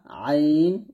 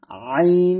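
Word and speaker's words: ع: ওয়া ওয়া ঠিক আছে আইনটা হবে আইন জবর আ একটু চাপ দিয়ে হামজার মতো না হামজা হচ্ছে হামজা জবর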